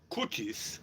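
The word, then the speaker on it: Ballad of Curtis Loew: So Leo, the O and an E. That means O with two dots. That means, and W is pronounced like a V. So Curtis Cutis. I know I should say it that way too, right?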